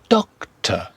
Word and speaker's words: doctor: Next one, doctor, doctor. The final syllable, the second one, is an unstressed doctor.